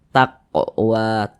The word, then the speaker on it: taqwa: Kaf termasuk huruf Qalqalah kalau sukun ya dipantulkan pantulkan bacanya l taq Taqwa Taqwa seperti itu mantul taq taq wa taq mantul seperti itu kemudian wa dibaca panjang nah sekarang perhatikan tanda